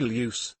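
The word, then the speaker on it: ljus: learned that i have pronounced lewd wrong for the past 20 years and apparently loose equals light also in my defense swedish is my third language and i rarely speak it you mean you pronounce the l audibly and then the j that's quite a tongue twister i would say it's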